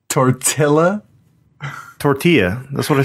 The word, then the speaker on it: tortilla: The most offensive thing you've ever mispronounced on this show is tortilla. Tortilla?